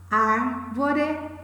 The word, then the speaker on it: árvore: Bárbara, árvore, cérebro. Todas essas três, observem, elas possuem a antepenúltima sílaba tônica, ou seja, elas são palavras proparoxítonas, ok?